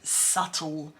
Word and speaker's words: subtle: we've got scrutinize and the word subtle without the B pronunciation so what I'd like